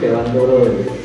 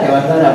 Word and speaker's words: Dewantara: Jadi menurut Jajar Dewantara itu, nah kalau kita orang Cilacap Mapak Dewantara, karena orang Gunung Giri itu Dewantoro. Nah, itu Dewantoro. Nah, saya Dewantara bacanya.